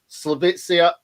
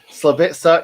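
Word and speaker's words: Slaviša: it's it's really exciting because um yeah obviously slovicia oh god i've been saying it all day and i've i've this is the first time i've said it live and i've said it wrong slovitza yakanovich um everything we've heard about him is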